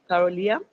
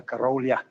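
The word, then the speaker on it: Krolia: the second councel yob Carolia Salam alaykum uh actually speaker my surname is councelor kolia k r o l i a just for pronunciation I second Capello on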